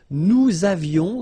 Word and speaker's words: nous avions: Nous avions, let's make this beautiful liaison here.